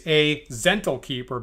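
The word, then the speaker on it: Zhentil: and a gentle keep should I be saying zental I'll give you two options a zental b gentle what is okay it sounds like the first one right because the second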